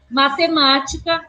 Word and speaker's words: matemática: E matemática recebeu acento na antepenúltima sílaba, na sílaba ma, tá?